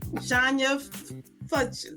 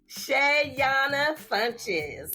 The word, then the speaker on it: Shayona Funches: Shania Funches. I said it wrong. Right. Shayona Funches.